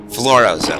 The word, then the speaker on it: Florozo: Florozo, okay, that was how you actually pronounce it.